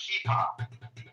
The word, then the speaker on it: kippah: Just pronounced kippah.